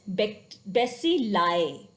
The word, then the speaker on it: bacilli: Similarly, I sounds like I when added to the end of the word to form a plural. When we are talking about the plural thing, then I sounds like I. Glomeruli, villi, alveoli, and bacilli. When rather than we are talking about one bacteria, if we are talking about many bacteria, then it is not bacterias, it is bacilli.